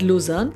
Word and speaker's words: Luzern: Finally, the last place that I can never stop talking about is Luzern. This is how it is pronounced the German way, being located at the German-Swiss side.